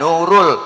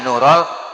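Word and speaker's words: نور: besok-besok kalau marhabanan tuh jangan ya Nurul tapi ya nurol Aini ya nurol pakai pathak Jadi nasob bukan roppak itu dibaca itu perlu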